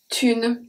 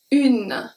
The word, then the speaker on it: une: Est une journée. Et make a very specific sound that we're going to see later. Une. Une. I pronounce the U, I pronounce the N. I don't pronounce the E.